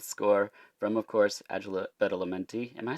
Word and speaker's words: Badalamenti: a lush synth score from, of course, Angela Badalamenti. Am I saying that right? Badalamenti? I don't know. I started to question myself. What'd you say, Sarah? Say it like you mean it. Angelo Badalamenti.